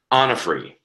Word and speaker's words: Onofri: is very exciting Michael how do you say your last name on a free on a free good I'm glad I asked